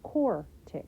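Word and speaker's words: quartic: is quadratic four is core tick right four rhymes with core don't add any extra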